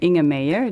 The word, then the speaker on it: Inge Meijer: Donc je m'appelle In a Mayer. Les gens ont beaucoup de mal à prononcer mon nom.